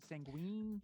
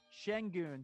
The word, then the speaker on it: Şengün: The center from Turkey, is it Sanguine? Alperen Şengün. Şengün, thank you.